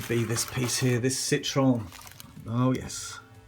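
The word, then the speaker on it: Citroën: It's actually pronounced Citroen, so gotta start saying that now really.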